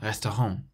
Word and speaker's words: restaurant: So we emphasize the last syllable, restaurant.